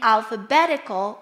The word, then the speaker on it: alphabetical: And in alphabetical will be the third syllable.